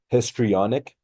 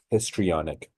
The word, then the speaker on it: histrionic: It would be pronounced histrionic. Again, histrionic.